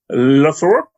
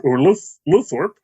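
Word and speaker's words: Lowthorpe: Our director this week, Philippa Luthorpe, or Luthorpe, if you want to pronounce all the letters.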